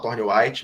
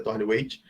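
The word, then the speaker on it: Thornthwaite: A de Thorne-Waite, tem gente que fala Thorne-White, mas eu acho que a pronúncia certa é Thorne-Waite.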